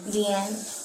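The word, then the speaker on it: Dehyn: So, under driver's license here, how do you pronounce this first name? Deian.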